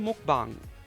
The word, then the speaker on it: mukbang: I watch YouTubers almost from all over the world, even mukbang you, YouTubers. Oh, by the way, that's the right pronunciation, mukbang, um, which I love, really.